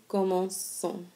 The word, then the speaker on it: commençons: And if you remember what that C does, it makes it be pronounced like an S sound instead of a hard K sound like K, okay? And so again, if an O follows a C, then it makes the C be pronounced like a K.